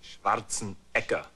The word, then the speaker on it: Schwarzenegger: It is Schwarzenegger. Schwarzenegger. Schwarzenegger. Actually, in Austria, they pronounce it Schwarzenegger.